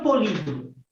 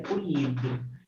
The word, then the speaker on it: poliedro: O que é um polídero? Um poliedro, na verdade, né? A pronúncia correta é poliedro. Mas eu já vi professor de matemática falar polídero. Mas é poliedro, certo?